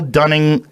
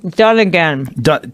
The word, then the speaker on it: Dunnigan: This is so Kyle Dunning, how do you say his name? Dunnigan.